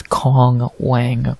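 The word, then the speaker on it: Wang Cong: fight between Kong Wang I'm not saying Wong Tong or whatever the it how you say it there's no T it's Kong Wang we're stupid Americans we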